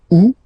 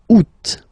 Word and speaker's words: août: And then here, two options, because, well, two options are acceptable in French. The first one, you don't pronounce the final T. Ou. Second one, you pronounce it août.